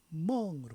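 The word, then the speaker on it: 夢: 꿈몽 중국 발음으로는 멍으로 바되죠. 멍.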